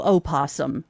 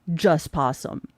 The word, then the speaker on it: possum: Notice she didn't put the O in there because you don't pronounce it because it's possum.